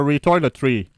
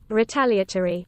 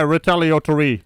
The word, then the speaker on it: retaliatory: It's like a retoiletry. Retaliatory. Yeah, retaliatory. You know, it's like a lottery for trees.